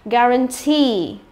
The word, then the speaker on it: guarantee: Rồi là guarantee, guarantee, được chưa nào? Rồi, như vậy là cứ nhìn thấy hai chữ ee thì phải đoán ngay là gì? Y dài, đúng không?